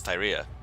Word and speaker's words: Fyria: Pyra. Faria. Pyra, I'm sorry. sorry. Fyria. I keep saying it wrong, it's Fyria.